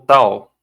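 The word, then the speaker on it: ταῦ: próximo próximo é o tal tal som de t t isso de tatu né som de T de tatto então sim se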